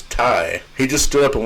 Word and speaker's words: Thai: the girl corrected him that is not Phi it's Ty he just stood up